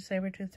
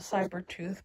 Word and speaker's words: saber-tooth: knew they made a saber-tooth tiger well i always called it cyber tooth but then i found a it's pronounced saber tooth so that's why i'm saying that way now hopefully that's right but